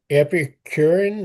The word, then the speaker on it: Epicurean: Okay, to the Epicurean, is that pronounced right? That's correct.